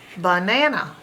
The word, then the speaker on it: banana: normal vowel sound and these two open ones are making their schwa sound uh ba Nan uh ba Nan uh banana this also happens in